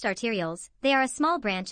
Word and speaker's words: arterioles: blood to the heart except the pulmonary vein pronounced arterioles they are a small branch of an artery